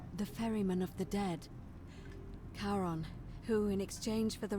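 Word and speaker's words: Charon: it's just as you described it only your pronunciation is a little off okay wrong you heard wasn't Karen it was c a c-a-a-r-o Haron the ferryman of the Dead karon who in exchange for the right coin helps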